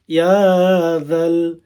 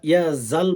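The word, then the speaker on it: يا ذا: ওয়াল ইকরাম, ইয়া যাল ইয়া জাল বলবেন, হ্যাঁ মেয়ের দোস্ত অনেকে আছেন ইয়া জাল বলেন না, ইয়া জাল বলে, এটা ভুল বাড়া উচ্চারণ হবে, সই শুদ্ধ করে, ইয়া যাল জালালি ওয়াল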